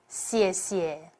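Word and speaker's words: 谢谢: Put the stress on the first 谢 and say it with a big smile. 谢谢.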